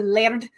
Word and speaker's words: Laird: The Laird. You double tap your R's when you're using, you know, Scottish Gaelic.